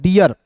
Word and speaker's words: dear: इसी से रिलेटेड दोस्तों यहाँ पे देखिएगा डी का दोस्तों ड होता है और EAR है, तो इसका उच्चारण ईयर के रूप में करेंगे। तो इसका उच्चारण किसके रूप में हो जाएगा दोस्तों? डियर। DEAR को क्या पढ़ेंगे दोस्तों? डियर हो जाएगा।